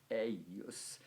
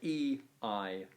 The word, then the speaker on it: eius: of that genitive singular, eius. It's spelled E-I-U-S, but it's pronounced as if there was a kind of double consonant I, eius.